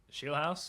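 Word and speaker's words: Scheelhaase: Shield House.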